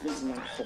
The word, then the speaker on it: Van Gogh: If you're going to go full Dutch, it's pronounced Van Gogh.